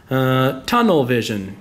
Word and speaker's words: tunnel vision: Tunnel vision, even though it's, you know, 1.2 points. I speak of it like it's one word, so I'll stress that first one.